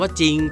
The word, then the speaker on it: จริง: ว่า คำ ว่า จริง จ จาน กับ ร เรือ อยู่ ด้วย กัน แต่ ร เรือ ไม่ ออก เสียง เรา จึง อ่าน ว่า จริง จ้ะ เรา คน ไทย